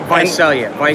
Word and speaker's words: Visalia: So you drives all the way up to the Bay Area, Yes, and then you return to Visalia, right? right. Am I saying it correctly? Visalia.